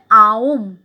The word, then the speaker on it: ওম: ওম এর আসল উচ্চারণ হচ্ছে আওম, আ হস্যু ম।